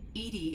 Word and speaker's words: EDI: are you named edie edie is the phonetic pronunciation of edi that is an acronym for enhanced defense intelligence what's your job what